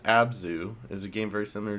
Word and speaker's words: Abzu: Abzu, just pronounced Abzu, is a game very similar to German exploration, but it's underwater.